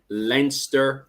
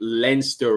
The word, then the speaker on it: Leinster: Then at the bottom there, we have Munster, Leinster, there in red.